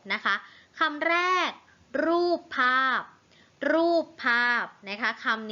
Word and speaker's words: ภาพ: ไม้ สะกด นะ คะ ภาพ ก็ เหมือน กัน คำ ว่า ภาพ สะกด ด้วย พอ พาน นะ คะ พอ อา พอ ภาพ นะ คะ ซึ่ง อยู่ ใน